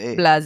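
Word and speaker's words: Blaise: I was wondering if it's pronounced Blaze or Blas. Blas.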